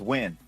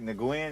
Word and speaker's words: Nguyen: Oh, that's Win.